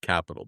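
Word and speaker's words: Qapital: but Capital it's I I actually had to figure out it's actually pronounced Capital but we can call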